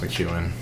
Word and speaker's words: McKeon: little bit but um it's Irish so it's pronounced McEwen did coach Harbaugh get